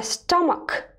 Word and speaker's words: stomach: look at these word C and H are pronounced here as a stomach and arm and elbow